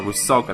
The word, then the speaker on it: Rusalka: I can't even pronounce the name. It's like Rusalka, something like that? Rusalka. Okay, there we go. Rusalka, that's how you call it.